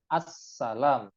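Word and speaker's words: السلام عليكم: Karena minimal redaksi salam itu assalamualaikum dan tasydidnya harus terbaca assalam. Nah, eh, apa namanya? Kadang orang itu ketika membaca salam tidak sampai tuntas. Assalam itu ada tasydidnya di atas sin.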